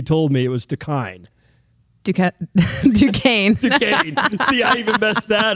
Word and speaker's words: Duquesne: Duquesne. See, I even messed that up, right? Duquesne. How is that thing? It's spelled like what?